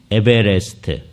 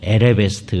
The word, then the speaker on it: 에베레스트: 산이죠 제일 높은 산 에베레스트 그죠 예 맞나요 저 초등학교 때부터 맨날 에레베스트 그래 가지고 이거 발음할 때마다 늘 확인을 해야 돼요 그죠 예 아마 거일지도